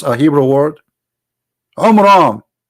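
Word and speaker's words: Amram: the father of Moses, which is Umram, not Umran. Imram. Wrong pronunciation, wrong name. I mean, have you ever heard of a God? He cannot even pronounce a Hebrew word. Umram.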